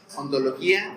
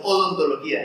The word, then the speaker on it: ontología: Van a buscar los conceptos que mencionamos ahorita: metafísica, ontología, epistemología, axiología, democracia, legalidad y legitimidad. Ahí va. Primero, filosofía. Luego, metafísica. Ontología. Ontología. Ajá. No es odontología, es ontología. Metafísica. Acento en la O.